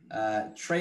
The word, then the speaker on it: Trey: Trey is spelled like a lunch tray.